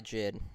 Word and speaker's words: JID: Pronounce his name Jid. J. Yeah, Jid.